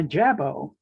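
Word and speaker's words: jabot: if they talk while eating and swallowing a jabo that's the correct pronunciation is an ornately styled stylized bib and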